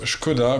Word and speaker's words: Škoda: Alors Škoda, ça se prononce Škoda, puisqu'il y a un caron sur le S.